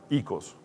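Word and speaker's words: οἶκος: Una es ikia, se escribe oikia, pero se pronuncia ikia, y la otra es oikos, y se pronuncia ikos.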